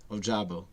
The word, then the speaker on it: Ojabo: is it a jabbo oh jabbo yeah yeah ojabo how do you feel about him it's he's